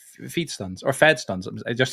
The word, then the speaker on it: FeeDStunz: Like."